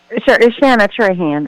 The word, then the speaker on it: Shana Trahan: Is it Shaina Tran? Tran. How do you say your name? Shana Trean. Uhhuh. Shana Tran.